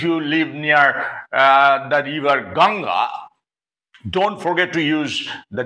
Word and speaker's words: Ganga: It's better for us to say the Ganga because the English people could not successfully pronounce the word Ganga, and therefore they used to call it Ganges.